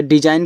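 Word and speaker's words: design: तो डिजाइन का मतलब होता है आकृति। यहां भी आपका ये साइलेंट है।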